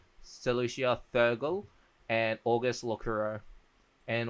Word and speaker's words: Celosia: I don't think you can guys hear it, but because Celosia, that's how to say Celosia, Theurgal, and August Locuro.